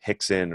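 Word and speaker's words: Rickson: time a camera froze Hickson or hoists or they'll start with J right anyway well it spelled with an R but it's pronounced as an H right which makes a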